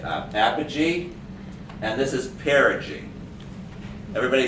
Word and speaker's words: perigee: is um oh my god i worked on pronouncing it uh apogee and this is perigee everybody say apogee have a cheese say energy